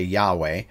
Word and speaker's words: Yahweh: agreed on this although most Scholars all say Yahweh uh there's no reason